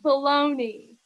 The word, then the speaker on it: bologna: It's pronounced baloney.